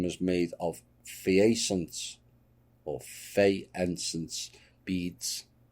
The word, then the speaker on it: faience: Now, a necklace found with the skeleton was made of phaeacents, or faience beads. Not pronounced that right. It looks like fay to me.